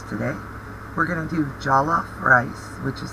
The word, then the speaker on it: Jollof: We're going to do Jollof rice, which is how it's pronounced, and right now I'm showing you that